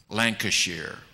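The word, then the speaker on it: Lancashire: I'm going to pronounce this in the proper English fashion. Lancasher.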